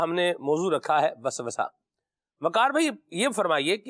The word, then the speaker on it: وسوسہ: کیا فرمائیے گا اس کا صحیح تلفظ جو ہے وہ واو کی فتح کے ساتھ ہے، وسوسہ. وسوسہ صحیح.